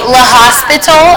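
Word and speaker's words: L'Hôpital: Okay, L'Hospital, if you don't want to have to pronounce it like, I don't know, the French do.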